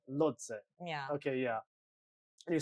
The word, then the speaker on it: Lhotse: I don't know how to pronounce it. Lodze. Lodze.